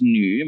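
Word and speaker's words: 女: shelter right and then the lower part is new many of you probably already know it new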